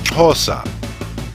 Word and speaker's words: Xhosa: Nelson Mandela, is pronounced Xhosa. Xhosa has three main types of clicks. The X for the click made at the side of the mouth, the Q for the